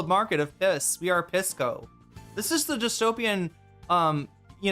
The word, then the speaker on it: Pisco: His name is Pisco. That's how it's, that's how the alcohol is pronounced, and his name is a reference to the alcohol.